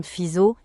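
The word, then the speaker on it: Fizeau: Armand Fisao, prononcé Armand Fiso, fit passer un faisceau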